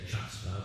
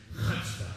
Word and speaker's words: chutzpah: You got to pronounce it the right way. Some people say chutzpah, but no, it's chutzpah. Can we say that? Let's get it real deep down in your throat.